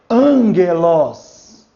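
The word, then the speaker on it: ἄγγελος: Quando aparecer antes de gama, de que e de que se, ele vai ter o som de N, como angelos. Angelos. Note que o G é duro, tá?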